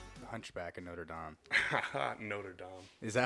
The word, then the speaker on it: Notre Dame: yeah classic Hunchback of Notre Dame Notre Dame is that how you say it I mean